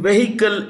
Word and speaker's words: vehicle: Vehicles the edge in vehicle is silent The Edge I repeat the edge is silent okay so it's pronounced vehicle the H is silent yeah um so which